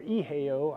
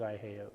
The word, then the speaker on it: IO: the new IO or eho I asked them about the pronunciation and they said it was IO so and that is